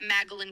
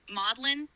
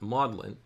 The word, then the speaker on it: Magdalen: I understand at Oxford modelin is how they pronounce it uh sounds a little bit like m a u d e uh like the name mod and then Dylan mod Dylan um although it looks